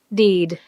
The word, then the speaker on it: deed: deed, did. 이 did라는 단어 여러분 발음 조심해요. 이 두 개 붙어서 길게 사운드가 나.